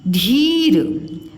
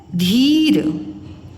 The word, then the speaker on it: धीर: लिखा हुआ धी धी धीर हम बोलते हैं धीर धीर धिर नहीं बोलते ठीक है धीर नी